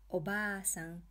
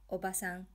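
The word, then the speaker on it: obaasan: here is an example Oh BA son means grandmother if you say oh Bassam that means aunt so you really have to pronounce it properly Oh bah son bobasa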